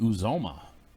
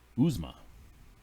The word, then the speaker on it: Uzomah: And then a surprising CJ Uzomah. Uzma, I think is how it's actually pronounced, from Cincinnati, who has been a very big target for Joe Burrow coming out of tight end.